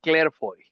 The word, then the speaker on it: Clerfeuille: acerca de Juan el Juan Elías Clairfoy, así se pronuncia.